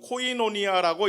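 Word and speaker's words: koinonia: 사귐은 그 성경이 쓰여진 그쪽 글자대로 하면 코이노니아라고 읽어집니다.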